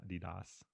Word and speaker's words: Adidas: Is that how we pronounce it now? Adidas.